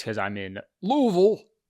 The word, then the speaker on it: Louisville: or Louisville it is Louisville you got to say it like a you're a like a southern man LEL I got a